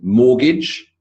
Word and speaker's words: mortgage: Then we've got the T as in mortgage, Christmas, whistle, and often.